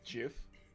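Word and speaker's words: giff: he is a gif g i FF believe pronounced JF I like that his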